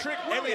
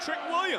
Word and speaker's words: Trick Williams: Trick Willie. I've been calling him Trick Williams. Everything I've done for that brand, he can't say my name right.